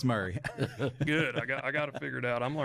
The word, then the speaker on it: Murray: okay Franklin 3600 um Murray County that that's how it's pronounced here right I got a I got to figure these counties out I heard a joke though one time it was Mari instead of Murray that was a fun